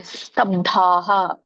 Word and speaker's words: ಸ್ತಬ್ಧಾಃ: ಆತ್ಮ ಸಂಭಾವಿತಾಃ ಸ್ತಬ್ಧಾಃ, ಬಕ್ಕೆ ದವತ್ತಿದೆ, ದೊಡ್ಡ ದವತ್ತಿದೆ. ಸ್ತಬ್ಧಾ, ಧಾ ಮಾತ್ರ ದೊಡ್ಡದಾಗಿ ಕೇಳಿಸ್ಬೇಕು. ಸ್ತಬ್ಧಾ ಧನಮಾನ ಮದಾನ್ವಿತಾಃ.